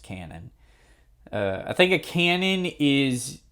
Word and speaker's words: Kanon: So Kyoto Animation liked adapting visual novels, and Kanon here is no exception. I actually think it's pronounced canon.